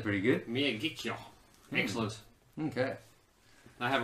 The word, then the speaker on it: Miyagikyo: you hating you read it how does tim pronounce that it's mia get cure i was close yeah said pretty good Mia kikyo mix loose okay I have a way with